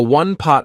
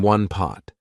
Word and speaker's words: one-pot: A one-pot meal is a meal that can be cooked in one pot, and I want to draw your attention to how I pronounced it. Instead of saying one pot, I said one pot.